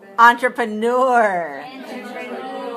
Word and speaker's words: entrepreneur: bit hard to say it's a french word that we borrowed into english and listen to the syllable stress code entrepreneur how many syllables do you hear an entrepreneur entrepreneur has four syllables can you hear the